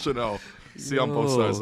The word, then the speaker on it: Chanel: Chanel Channel. Let's give him Chanel. What kind of It's just- tariff type pronunciation just was that? channel, It's just channel, man. man. It's Chanel.